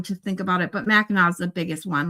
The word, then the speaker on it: Mackinac: Like Mackinac, everyone says Mackinac, and it's not. It's Mackinac. And I'm trying to. There's a lot like that. I'd have to look at them to think about it. But Mackinac is the biggest one,